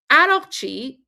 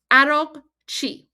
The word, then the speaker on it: Araghchi: Guys, Arakchi, his last name, okay, Arakchi. So Arak is how you pronounce Iraq, okay? So his last name, Arakchi, literally means from Iraq, okay?